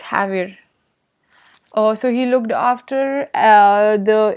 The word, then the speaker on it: Javier: If you from US point of view, you can say, you can pronounce it as Xavier, but from the Mexican, or you can say from the Spanish, it's Javier.